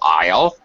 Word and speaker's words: aisle: identical mmm i will aisle aisle like in a grocery door a is le aisle as an island is le the pronunciation is and should be absolutely identical right and then there